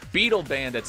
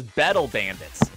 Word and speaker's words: Beetle Bandits: now reading the chat I'm so sorry my friend for mispronouncing that it's actually in our chart as battle Bandits I would I forgive I hope you forgive me for that because it was actually spelled with two T's I'm going to correct